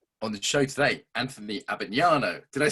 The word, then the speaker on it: Abbagnano: on the show today, Anthony Abbagnano.